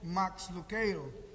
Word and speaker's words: Max Lucado: que é o autor Max luqueiro que nós já nos acostumamos a portuguesa a pronúncia do seu nome chamamos de Max Lucado tem um livro intitulado